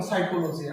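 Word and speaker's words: psychology: যেমন সাইকোলজি, আমরা প্রায় এটা নিয়ে আলোচনা হয় যে এখানে পি এর সাউন্ডটা নাই কেন, ওই যে ব্ল্যান্ড, এটাই ব্ল্যান্ড মানে সাইলেন্ট লেটারের কারণে এটা এখানে পি এর যখন আসবে বা পিএন যখন আসবে, এই দুইটা ব্ল্যান্ড মিলে শুধুমাত্র একটা সাউন্ড করবে, এই কারণে পি এর উচ্চারণটা এখানে নাই, এটা দেখানো হচ্ছে এখানে। এখানে সাইকোলজি হবে।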